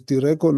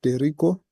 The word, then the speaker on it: Direko: So Direko as Direko, not Derico.